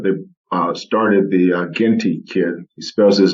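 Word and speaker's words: Zhgenti: n t i uh my um english background says the z and the h is silent someone will pronounce it uh ginty uh six nine kid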